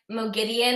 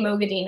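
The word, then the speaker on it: Moghedien: saying no getting I I have decided I like Moe Gideon and I think that is the right pronunciation but yeah they went back to saying movie Dean in this book house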